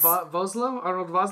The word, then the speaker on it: Vosloo: Arnold Vosloo? Yes. I know I'm pronouncing Arnold Vosloo.